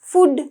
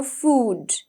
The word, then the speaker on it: food: Okay, so it's not food නෙවෙයි, අපි කියනවා food, right?